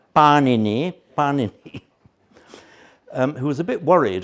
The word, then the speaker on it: Panini: About the time of the Buddha came along the mighty grammarian Panini, not to be confused with the products of Italian bakeries, much as I love panini. Please pronounce him Panini, who was a bit